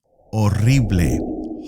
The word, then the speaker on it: horrible: Next adjective, horrible, horrible. This is a classic example connecting words in both languages. Same spelling, but different pronunciation. Horrible. You don't pronounce the H.